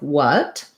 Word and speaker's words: what: So typically WH in American English actually just says the W sound. So if you look at the IPA in the dictionary for the word what, you'll just see a W. There's no W to it. There's no H sound.